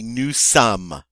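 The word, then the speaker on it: nous sommes: we are would be Newsome again the final s is not pronounced second-person plural talking to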